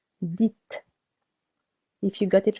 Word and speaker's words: dites: Be careful here. Not disait, but dites.